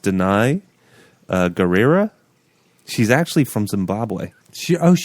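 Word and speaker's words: Danai Gurira: I think it's pronounced Denai Guerrera.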